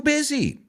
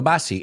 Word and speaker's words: busy: Busy. No basi. He oído basi muchas veces. Busy. Busy. It's like that easy sound. El zzz, busy.